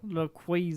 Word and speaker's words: Rayquaza: guys but how do you say it Rayquaza Rayquaza that's how you say it raquaza raquaza yo